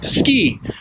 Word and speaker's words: CKI: It's the last three letters of my last name, and our last name is pronounced like ski and not however some people pronounce it.